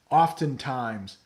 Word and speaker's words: oftentimes: Angelo is wondering, how do you pronounce oftentimes? Yeah, I guess the T is a little more pronounced there.